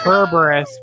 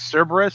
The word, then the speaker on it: Cerberus: pronouncing it it can't it can be kerberos but no no in english it's always cerberus the way that danny pronounces it as caravas if you pronounced greek is kerberos that is wrong it